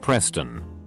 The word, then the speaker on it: Pristin: Her brother was named Pristin, pronounced Preston. Kinda makes me wonder if their parents went to school like damn.